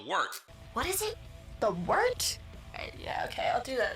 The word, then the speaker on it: wort: The wort? Yeah, okay, I'll do that again. This is The Wort on Govs Radio. It is the Wort. Not wart, not fort, not short. The Wort.